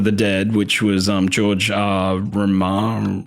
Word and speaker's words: Romero: original Dawn of the Dead, which was George Romero.